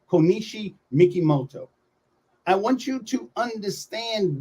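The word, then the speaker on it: Kokichi Mikimoto: Some people say his name first, Mikimoto, then Konishi, but it's actually Konishi Mikimoto.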